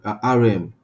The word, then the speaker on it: rem: So rem, which is rm, which is pronounced rm, it's a unit.